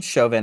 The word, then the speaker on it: Derek Chauvin: Chauvin.